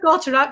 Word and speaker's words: Gotterup: So I like Chris Gotterup. You said it right. Amazing name. But 50-1 is interesting. That Gotterup.